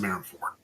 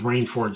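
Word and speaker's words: Marineford: I pronounce it Marin Ford because Marine Ford just sounds dumb.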